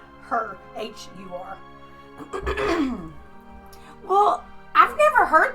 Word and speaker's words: Hur: Her. H-U-R. Well, I've never heard that name before, but Yeah. How do you spell that again? Her. H-U-R. H. Her. Like hurry.